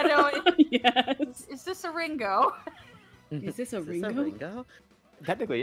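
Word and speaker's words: りんご: Is it actually pronounced Ringo? In Japanese? Yeah, exactly. I got a sharp E. Ringo.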